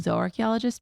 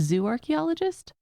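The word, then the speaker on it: zooarchaeologist: Um I think you are actually the first zoarchchaeologist that we've had on the show which for listeners I know I'm saying zo archaeologist but it's zoo archaeologist.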